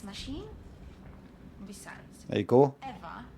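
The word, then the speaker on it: Ewa: Eva is spelled E-W-A, not E-V-E.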